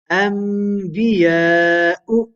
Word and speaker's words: أنبياء: Whenever Hamza appears at the beginning of a word, it is often pronounced as a full mouth letter. The full mouth letters are khussa, dagdin, qiz. Hamza is not one of them.